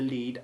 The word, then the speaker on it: lead: The verb lead, like read, changes from the long E1 sound of the present tense to the short E1 sound in the past tense.